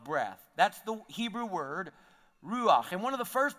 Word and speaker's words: ruach: is the Hebrew word ruach can you say that with me now you got to say like you got some popcorn stuck in the back of your throat right it's and so